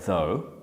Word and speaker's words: though: we use the word though i would just write down a word that rhymes with though that you know really well so this could be something like so and so in your vocabulary